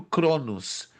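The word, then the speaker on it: χρόνος: Se pronuncia em português cronos, mas no grego é Cronos e Kairos.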